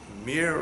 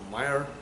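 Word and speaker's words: myrrh: Mor in English is, I think it's pronounced mir or myr.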